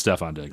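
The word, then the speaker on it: Stefon Diggs: Uh anyway, we're not saying any names, but but it's Stefon DS. It's day rhymes with hef on figs.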